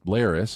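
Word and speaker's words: Larys: we have here is Lis who I think we only like because his name rhymes with Varys and a selection of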